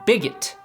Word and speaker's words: Bigot: french olympic athlete quentin bigot who specializes in the hammer throw of course in france his last name is pronounced big o but here in america a guy named bigot who can throw the